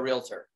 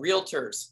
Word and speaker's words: realtor: sell something to a realtor call them a realtor what are they called they are called realtors it's two syllables if you call a